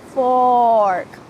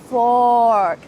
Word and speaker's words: fork: silverware, you can say fork, fork. Make sure that the R sound is very clear as well.